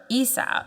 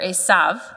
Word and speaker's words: Esau: account of his brother Esau Esau Esau or asav I always go back and forth between those uh two pronunciation likewise she went out